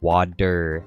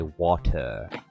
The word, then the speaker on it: water: Yeah, we say water, like 2 D's. Although, I guess the Brits, they say water. Water with a T.